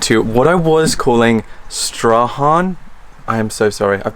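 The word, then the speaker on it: Strahan: throughout this entire video it's actually stra and we didn't realize until we were on the Gordon River Cruises because the captain kept saying straw and I'm like oh my god I've been saying it wrong this whole time um so yeah thanks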